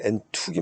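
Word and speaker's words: ἔντευξις: 그래서 이 도고는 원어상으로는 엔툭시스라는 그 명사, 이거는 이제 타우니까 이게 아마 트자 발음이 나니까 엔툭이 맞겠죠. 엔육이 아니라.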